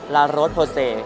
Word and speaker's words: La Roche-Posay: ว่ า รั ก ษ า How to pronounce La Roche-Posay?